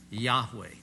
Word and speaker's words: Yahweh: Well, what we've done, uncomfortable with that, is we've added an A and an E, and we call him Yahweh. Now that may be accurate. I'm pretty certain about the very first syllable of this. Do you ever say the word? Of course you do. Hallelujah. Hallelujah. Hallels to Yah, or praises to Yah.